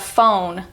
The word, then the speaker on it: phone: The PH sound makes an F sound. So if you spelt phone, F-O-N-E, you'd say it phone. But we spell it P-H-O-N-E, and we still say phone. F-O-N-E is incorrect. P-H-O-N-E, correct. Phone. It's the same thing as fat and fast and fire. Phone. It's the same F sound.